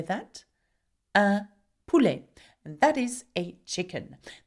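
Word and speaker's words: poule: is a pulle. Can you say that? A pulle. And that is a chicken. Now you notice that o u together make the sound oo.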